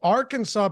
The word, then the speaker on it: Arkansas: state legislator making the Arkansas pronunciation official ever since Americans have gone along with the s-list first syllable stressed version of Arkansas so they had an